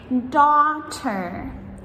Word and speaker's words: daughter: one of all, and this is the GH combo of the silent letters together. So in words like daughter or laughter, ha ha ha, right? We spell these daughter, D-A-U-G-H-T-E-R, or laughter, L-A-U-G-H-T-E-R. So in both of these words, the GH silent letters come in the middle before the T.